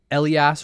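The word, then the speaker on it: athelas: Elas rhymes with pass.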